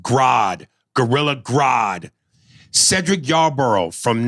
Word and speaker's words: Grodd: used caps uh ares his name is pronounced grodd gorilla grodd cedric yarborough